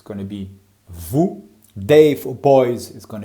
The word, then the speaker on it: vous: For you, plural form, it's going to be vous. Make sure you don't pronounce the S.